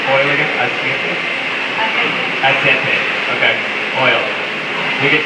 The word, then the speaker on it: aceite: Asiete? How do you say oil? How do you say oil again? Asiete? Aceite.